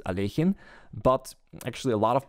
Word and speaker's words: Alekhine: of this player and the correct pronunciation of his last name is alejin but actually a lot